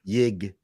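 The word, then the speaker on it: Jig: Yig. Right. Yig. Yig? With Okay. a J. How do you spell that? J-I-G? He just said with a J. J-I-G. J-I-G.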